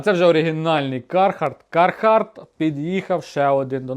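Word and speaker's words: Carhartt: Кархарт. Кархарт. Ну, це, короче, така тема, друзі. Це Кархарт. Це Кархарт, друзі. Я вже сказав. Бачите, я правильно вимовляю.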